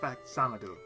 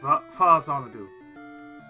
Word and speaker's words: Faxanadu: Or actually it's pronounced Faxanadu. Most people call it Faxanadu, but it's Faxanadu. Because people don't say it's not really pronounced fax. It's Fa Xanadu. F-A Famicom Xanadu. So it's Fa Xanadu.